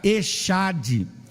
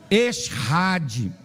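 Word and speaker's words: אחד: O texto que aparece no Antigo Testamento para se referir à unidade é uma palavrinha hebraica chamada echad, ou alguns pronunciam eshad.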